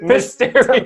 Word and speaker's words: Mysterio: Say it right. Mysterio. It felt like you're saying a stereo at the end.